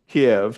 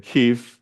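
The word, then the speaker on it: Kyiv: the principal city was Kev to a Russian and Kei to a Ukrainian you know they spell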